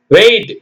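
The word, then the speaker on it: weight: டைட் அப்போ டிஐ ஜி ஹெச் டி டைட் இருக்கமான வெயிட் எடை wh டி வெயிட் எம் ஐ ஜி ஹெச்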